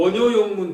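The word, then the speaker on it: 원요욕문: 이 요자도 음악이라고 할 때에 악자죠. 음악이라고 할 적에 음악이라고 할 때에는 악, 좋다고 할 때에는 락, 좋아한다고 할 때에는 요산, 요수. 그러니까 원효용문 그렇게 읽어야 되거든요. 원낭용문이라고 읽는 것이 아니라 한글로 해놨으니까 이제 원효용문이라고 이렇게 이야기를 하죠.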